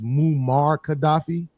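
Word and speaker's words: Muammar Gaddafi: If I'm if I'm saying this name wrong, please correct me, but I think it's Mumar Gaddafi.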